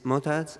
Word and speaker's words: Motaz: My name is Motaz. It's spelled M-O-T-A-Z.